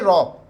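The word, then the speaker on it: rho: इसे बोलते हैं रॉ, आर एच O. This is the pronunciation of this symbol.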